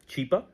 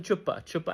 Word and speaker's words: Chipa: A humanitarian, his name is Chipa, Mr. Chipa, and she starts mispronouncing. She calls him Chupa, and yeah, Chupa is look it up, and that became a meme in itself in Pakistan.